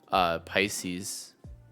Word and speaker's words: Pisces: that you can find, and then you saw Pisces. Is that how you pronounce it?